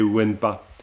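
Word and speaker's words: དབེན་པ: Parce que le pa, lorsqu'il est préfixé par un ta, donc le pa devient wa. Donc taowa dembuye na yen. Taowa dembuye na en. Bon, c'est un peu compliqué à prononcer, mais bon, c'est wenpa. Ça se dit wenpa parce que c'est wa taowa, wa dembuye. Wena, wenpa, hein, wenpa, le lieu solitaire.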